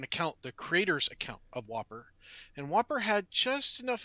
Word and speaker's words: WOPR: war operation plan response uh pronounced like the cheeseburger the whopper and it was to